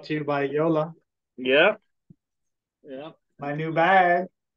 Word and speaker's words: JOOLA: there from Yola and it's pronounced Yola not Jula it's a German company they're they're really well